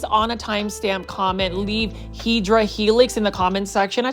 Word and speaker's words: Hedera helix: Every plant foldie's favorite, this is the Hedera helix, or the correct way to say it is Hedera helix.